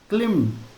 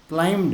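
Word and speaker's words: climbed: The fourth ब्राह्मण the fourth ब्राह्मण क्लेम्ड। अब देखो क्लाइम्ड। है ना? यहां बी साइलेंट होता है।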